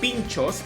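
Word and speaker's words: pintxos: So I knew that the pronunciation would be pinchos, but I never saw it written like this.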